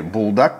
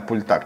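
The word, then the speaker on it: 불닭: Очень часто я встречал вариант рапокки из лапши Пультак, или Булдак как у нас её называют. Ну правильно Пультак читается.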